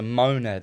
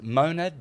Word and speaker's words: monad: The Godhead, God, is a monad at the top.